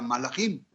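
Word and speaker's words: מלאכים: Pues bien, resulta ser que ángel en hebreo se pronuncia malach de manera singular, mientras que de manera plural se pronuncia malachim, y son seres un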